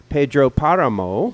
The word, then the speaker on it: Pedro Páramo: Sami, and you chose Pedro Páramo. Yes. I like that you Which- put the emphasis on the right syllable.